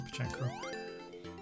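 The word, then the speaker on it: Pachinko: And the how do you pronounce it? Pachenko? It's Pachenko.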